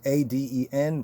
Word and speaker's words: Aden: called the Gulf of Aden, right? Aden, but it's pronounced as Aden, like the Gan Ba'aden.